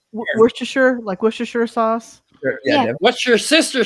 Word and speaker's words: Worcestershire: How do you say the end of that word? Sheer. Sheer. Okay, sheer. Because sheer. Everybody Like here. Worcestershire sauce.